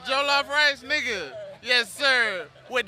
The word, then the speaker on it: jollof: It's jollof rice, nigga.